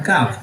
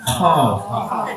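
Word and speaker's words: قاف: Bacanya bukan Kaf, Qaf.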